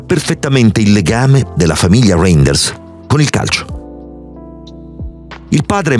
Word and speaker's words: Reijnders: partigiani Reinders. Esattamente come avete sentito, si pronuncia esattamente così il nuovo centrocampista olandese del Milan.